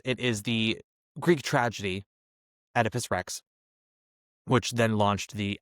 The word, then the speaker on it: Oedipus: And it follows uh Edipus, Edypus in this production, as it's pronounced, Edypus, who is married to Jakcasta, played by Leslie Manville.